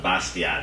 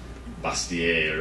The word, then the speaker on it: Bastiat: It's not Bastiat, it's like Bastier or something fancy schmancy like that.